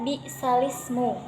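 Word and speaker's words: بِئْسَ الِاسْمُ: juz 26, yaitu pada lafaz bi'sal ismu dibaca bi'sal ismu. Jadi naqal itu sendiri mempunyai arti memindahkan hamzah yang berharkat kasroh pada huruf lam, sehingga huruf lam tersebut menjadi harkat kasroh. Jadi tadi contohnya bi'sal ismu dibaca bi'salismu.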